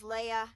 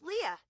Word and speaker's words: Leah: I've also heard Leah pronounced as Leia and Lee before, but it is Leah.